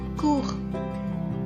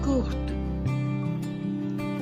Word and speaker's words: court: So the last consonant in a word is most of the time silent in French. So that is why in the masculine singular form we will not pronounce the consonant T at the end. It will remain silent. But when it changes into the feminine form, there is an E at the end. So we will pronounce the T.